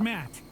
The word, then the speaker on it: Matt: not an inch less the name's Matt the second T is silent sure sounds like an